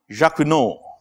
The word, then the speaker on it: Jacquinot: How do you pronounce this word? Name? Huh? Jacquinot. I have no idea why that T is there, but what can I do? That was his name.